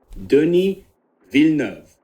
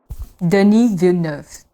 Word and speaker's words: Denis Villeneuve: And I cannot pronounce the director name, so I don't want to butcher it, but apparently this is how you pronounce it. Denis Villeneuve. Denis Villeneuve.